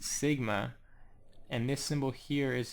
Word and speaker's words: sigma: symbol here is a lowercase s in Greek pronounced Sigma and this symbol here is the lowercase m